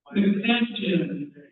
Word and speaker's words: McFadden: Am I pronouncing it correctly? McFadden.